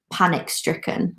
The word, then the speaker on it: panic-stricken: it's the similar thing like panic-stricken we stress the word panic exactly but sometimes sometimes